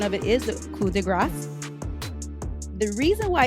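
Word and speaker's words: coup de grâce: of America or speculation a lot of Americans think that they're pronouncing It the French Way by dropping this sound just like how we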